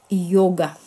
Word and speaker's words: Яга: А вот Яга, она правильно произносится. Йога.